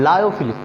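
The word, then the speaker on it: lyophilic: Colloidals को बोलते हैं लायोफिलिक, ठीक है। अब लियोफिलिक या लायोफिलिक जो आप प्रोनाउंसिएशन कीजिए, लायोफिलिक का मतलब क्या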